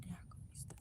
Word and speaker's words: daiquiri: Oh, banana daiquiris. That's how you say daiquiri. That's how you spell it.